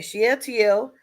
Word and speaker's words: Shealtiel: So how do you pronounce it?